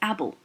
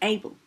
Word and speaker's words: able: final silent e now a lot of people here will say abble actually this word would still say able because the a would be falling off the cliff in the first syllable and the second syllable would be bull so the final silent